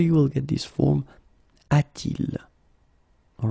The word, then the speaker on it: a-t-il: Okay, so you will get this form a-t-il. All right, so il a should become a-il, but then it doesn't sound nice, so it's a-t-il.